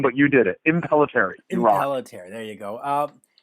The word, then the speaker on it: Impellitteri: and Rob speaking with Chris and Rob from impel eteri that is that how you say the name perfect pronunciation they did better than I do yeah well name but you did it impelliteri involuntary there you go up bands been around